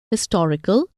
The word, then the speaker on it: historical: In words hotel, historical, habitual, and humble, an is not acceptable because the H in these words is pronounced.